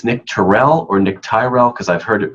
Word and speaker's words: Tyrrel: But technically, it's Nick Tyrrel, and it's spelled Tyrrel.